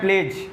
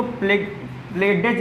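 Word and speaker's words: pledge: डी क्या कब यूज करना, डी कब साइलेंट होगा, जब वो जी से पहले लगा हो, जब जी से पहले लगा होगा। जैसे देखो ये लिखा है प्लेज, ये प्लेज है, इसको प्लेडेज नहीं पढ़ेंगे, प्लेज नहीं पढ़ेंगे, प्लेज पढ़ेंगे।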